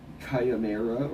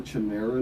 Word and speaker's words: chimera: __ ] oh God that's cayamera or Chimera depending on how you say it I guess everybody has a different way I feel like it's kind of mirror like okay I don't